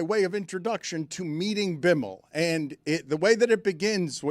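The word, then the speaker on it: Bimal: COO's name is Bimmel. Hey, a nice guy. And Biml, this is great. Bimmel, uh, Bimmel is spelled simply B I M A L.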